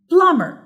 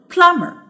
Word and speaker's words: plumber: اوكي the first one plumber plumber تفتكروا الستريسد سيلابل فين؟ هيبقى plum ولا er؟ Of course it's plum عشان انا بقول plumber.